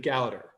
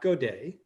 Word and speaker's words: Gowder: Gowder, like chowder. I believe it's Richard Gowder, not Godet.